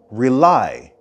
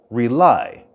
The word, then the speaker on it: rely: not rely with someone the stress of the word rely is at the end rely rely and listen carefully for